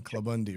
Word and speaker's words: Klabunde: you was talking about you the man Kevin clubundi right it's yeah you pronounce that right yeah good job did you